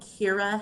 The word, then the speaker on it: Kiira: So we have sought out a group called Kira Health. It's spelled Kiira Health.